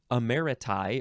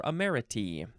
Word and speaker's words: emeriti: The plural is you replace the US with a TI and you pronounce it emeriti or emeriti.